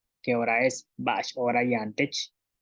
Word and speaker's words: ba'ax oora yaan tech: Y para decir qué hora es, bash hora yantech, qué hora es, bash hora yantech.